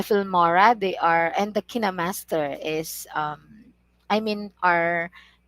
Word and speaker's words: KineMaster: this one because i'm i hear different pronunciation from different people sam says it's kind master other says it's kine master but according to what i have researched it's kinema kinemaster and kinema is a british